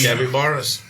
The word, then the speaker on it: capybara: capybaras.